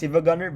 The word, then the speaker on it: SiivaGunner: It's called it's pronounced as SiivaGunner but it's spelled as s i i v a g u n n e r.